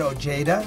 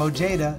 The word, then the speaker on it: Ojeda: Richard Ojeda. That's how they say his name. Ojeda. They butcher it that way. It should be Ojeda, right? Because he's Mexican.